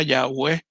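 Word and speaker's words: Yahweh: y h w h una tal vez pronunciación más real sería yagüe pero es interesante porque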